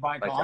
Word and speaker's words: Baikal: Lake Baikal. Lake Baikal.